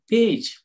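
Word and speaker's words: page: Next P ಎ ಜಿ ಇ ಪೇಜ್, ಪೇಜ್ ಅಂತಂದ್ರೆ ಇಲ್ಲಿ ನೋಡಿ ಜಿ ಆದ್ಮೇಲೆ ಇ ಇರೋದ್ರಿಂದ ಇಲ್ಲಿ ಜ ಉಚ್ಚಾರಣೆ ಕೊಡ್ತಾ ಇದೆ.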